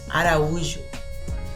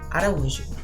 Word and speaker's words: Araújo: So here you would pronounce the letter I with strength, the same way with the letter U, with strength because the accent is on top of it. Ela é Thaís Araújo.